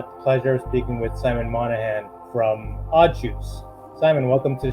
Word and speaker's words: Monaghan: thank you and and you pronounced my surname really well so thanks for that I've had I've had Simon montue I've had Simon mongan um which wasn't too flattering so yeah it was